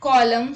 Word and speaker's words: column: N is not pronounced when it comes after M at the end of a word. Let's look at the examples. Autumn, hymn, column, solemn, etc.